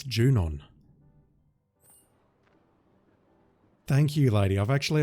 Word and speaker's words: Junon: I was never sure it was Junyon or something else, but no, it's Junon.